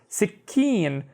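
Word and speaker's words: سكين: middle of the shadda because this ka sound is doubled, right? So it would be sick, keen, sick, keen. So notice how I'm doing the ka with both of the syllables. Sikkeen, and sikkeen is a knife.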